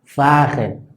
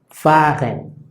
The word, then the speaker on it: fahren: Por ejemplo, aquí tenemos fahren, fahren. Entonces la H no se pronuncia.